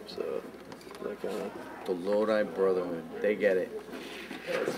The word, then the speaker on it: Lodi: But, you know, like, the weird thing is people down here, we didn't know how to pronounce Lodi, so we were calling it Lodi.